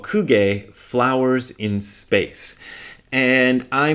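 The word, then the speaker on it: 空: But here is Nishijima Roshi's introduction to Kuge. Ku means the sky or space. It also means emptiness or the void. It's often translated the same way. Ku. Sometimes that character is pronounced Sora. That first character there in the compound.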